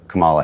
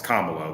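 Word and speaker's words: Kamala: or do you prefer Cala Harris okay he didn't really answer the question there at all Michael and he said and he said her name wrong it's kamalo I mean we know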